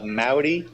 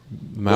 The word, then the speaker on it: Mowdy: His name is Mott. How are you doing? I'm doing well. How about yourself? Did I pronounce your last name correctly? Actually, it's pronounced Mowdy, as in howdy. Mowdy. With an M.